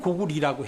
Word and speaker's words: 고구리: 그걸 원래는 고구리라고 해야 돼요. 고구리. 응.이 고리에서 나온 거거든요. 이게 응. 원래 그 고려대학교 할 때 그 화려할 여자. 화려할 여자는요. 중국 발음에 두 가지가 있어요. 려루 읽기도 하고 리루 읽기도 해요. 음. 리루도 많이 읽어요. 음.